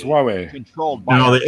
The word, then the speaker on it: Huawei: Huawei. No, it's Huawei.